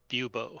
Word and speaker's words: Bubo: you pronounce his name yubo like Bubonic plague bubo I see what you